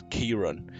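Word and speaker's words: Ciaran: POC Irish name siaron it's pronounced Kiran siaron Keen as a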